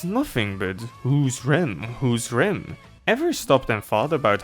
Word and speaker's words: Rem: Also, it's pronounced Ram. This is Rem, this is Ram. Know the difference.